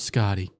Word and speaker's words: Skadi: If you haven't watched Scotty, I will say it's not like SCOTTY. It's SKADI. That's how you spell it.